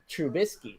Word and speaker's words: Trubisky: i eventually got it but trubisky there's no n say it again okay that was there's no in there yeah now he's gonna